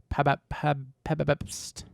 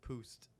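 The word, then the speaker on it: Pabst: ever How do you had a even beer pronounce this? Hold on. Pabapst. Pabapst. Is that it? Pabapst. before. No, it's Poost.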